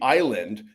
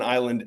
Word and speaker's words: island: For example, th is pronounced 'the' and the s in island is silent.